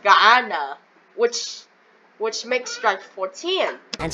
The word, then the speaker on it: Guyana: Rico, Colombia, Venezuela, Honduras, Guyana. It's pronounced Guyana, which makes strike 14.